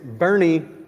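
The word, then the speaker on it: Boerne: Yonder from uh Bernie it is Bernie like it you spell it like it sounds b o e r n e you can tell we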